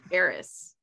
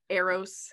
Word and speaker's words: Eris: Val's really interested in heiress or Eros how do you say that Aries Aries oh Eris that's interesting that heiress